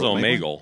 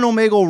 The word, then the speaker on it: Omegle: It was Omegle. Omegle, maybe. Like a bagel.